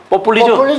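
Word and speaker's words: populisme: 근데 이거는 사실은 프랑스식 발음으로 뽀뿰리즘. 뽀뿰리즘 이렇게 해야지 딱 맛이 살아서.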